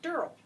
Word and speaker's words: Durrell: I'm Christine Bentley in studio with Kate Wheeler, and we have with us Alexandria Durrell. Rhymes with squirrel.